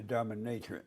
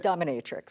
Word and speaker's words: dominatrix: go and be a dominatriant. Am I saying it right? Dominatric. Dominatrix.